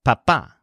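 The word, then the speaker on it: papá: English are mama and papa in each case the stressed syllables are ma and pas so you're gonna say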